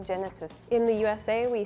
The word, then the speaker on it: Genesis: in Indonesia we say Genesis in Spain we say hesis like henesy like the alcohol Hennessy like the G and the J is pronounced the same in Spanish G has a u